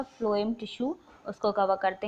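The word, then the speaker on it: phloem: ठीक है, फ्लोएम से मैं ऐसे रखती हूँ, फ्लोएम और फूड, है ना। इसको भी फा से, हिंदी में फा से प्रोनाउंस करते हैं, और इसको भी फा से। तो फा से फूड और फा से फ्लोएम।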